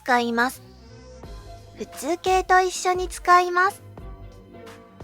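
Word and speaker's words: とは: When speaking in written language, use TOHA (Pronunciation is TOWA) Used together with plain form.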